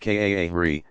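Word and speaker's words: قارئ: Excellent, is called a qari, pronounced kaahri, professional Quran reciter.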